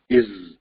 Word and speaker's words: is: so'zimiz is garchi as yozilgan bo'lsa-mu, z tavshining telaffuz qilinayotganligini bilyapmiz arkadaşlar. Shunga diqqat qilsak, ya'ni is, okay?